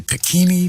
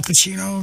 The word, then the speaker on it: Pacino: says i love that he was able to pronounce my name al cachino most people say pakini pakani you know i grew up with that in school and stuff and so he said al pacino yes what's this uh hamlet